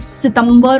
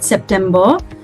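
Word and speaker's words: September: त then we वी we don't call it सितंबर और anything else we call it सेप्टेंबर then we have October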